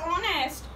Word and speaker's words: honest: Don't pronounce here, H is silent.